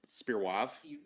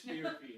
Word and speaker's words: SPIR-V: You know, it's SPIR-WAV. It is SPIR-V.